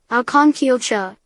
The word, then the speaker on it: Aucanquilcha: Aucanquilcha, pronounced Aucanquilcha, is a massive stratovolcano located in the Antofagasta